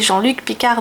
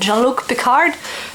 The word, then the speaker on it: Jean-Luc Picard: s'appelle Jean-Luc Picard mais ils sont incapables de prononcer Jean-Luc Picard donc à longueur de temps c'est jean-lucard parce que je regarde